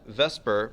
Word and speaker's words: VSEPR: with these shapes is known as Vesper but it's spelled VSEPR and that stands for